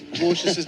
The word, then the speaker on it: Dwarshuis: It's the W silent, isn't it? Well, Dwarshuis. Yeah, well, it is. That's the way that we pronounce it. But how would you pronounce Dwarshuis' name if we were in South Africa? Dwarshuis. Dwarshuis. There you go. I didn't realise the W was silent, and nobody picked me